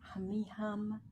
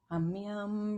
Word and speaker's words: Humme Hum: And you want to pronounce it very specifically, Humme Hum, Brahm Hum. When you put your mouth together for the hum, you want it to vibrate your face, okay? Humme Hum, Brahm Hum.